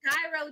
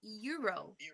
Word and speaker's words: gyro: I'm thinking I think I used to pronounce it as gyro too I would be like can I have gyro sandwich but it is Euro I just asked I